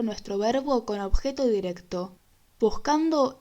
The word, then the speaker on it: buscando: Buscando es una palabra grave que no lleva tilde porque termina en una vocal. Buscando. Al agregarle una sílaba al final, desplazamos el acento hacia la tercera sílaba de atrás hacia adelante, lo que significa que pasa a ser una palabra esdrújula.